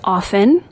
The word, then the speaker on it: often: Apparently I said often. It is often. And thank you for pointing this out. I'm going to go on the record and say silent T is really dumb.